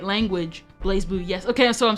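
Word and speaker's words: BlazBlue: verify if somebody was speaking the right language blaze blue yes okay so I'm saying it right for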